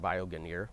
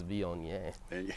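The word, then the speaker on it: Viognier: So it's just it looks like vioanir when you if you read it uh phonetically but it's von because it's French.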